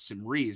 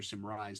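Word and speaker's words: Symrise: we now known as Sim Ree or Sim Rise depending on how you pronounce it.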